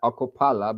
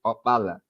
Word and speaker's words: Opala: Actually, they pronounce it here like Okopala, but actually it's Opala.